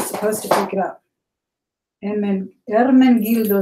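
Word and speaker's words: Ermenegildo: All right, here's that word, that name that people have trouble pronouncing. I do too, but I know a little Italian. It is Ermengildo Zegna. Ermengildo Zegna.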